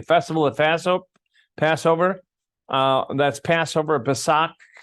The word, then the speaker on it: Pesach: The Festival of Passover, that's Passover, Pesach, or Pesach, however you want to pronounce it. But I think the Hebrew way is Pesach. You got to kind of swallow it, the CH.